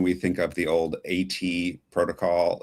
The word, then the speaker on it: AT Protocol: It's at protocol, which makes sense. It's the at sign, right?